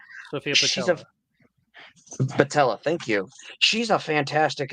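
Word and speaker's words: Boutella: Patella, thank you.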